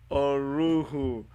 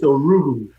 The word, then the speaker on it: Orughu: Oruru. did I get it? Well, Oru. Huh? It's It's uh not bad. It's Orugu.